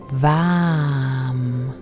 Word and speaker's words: VAM: The color of the sacral chakra is orange, and the mantra we're about to sound is VAM, spelled V-A-M.